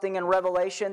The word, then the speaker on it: Revelation: that we pronounce it maybe you've pronounced the book Revelations with an s on the end that's not what this book is this book is one